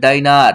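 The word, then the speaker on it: diner: ডি ডি আই ডি এনই আর এখানে কিন্তু ডিনার উচ্চারণ হবে না এখানে কি হবে ডাইনার কি হবে ডাইনার আমি আবার পাশে লিখে দিছি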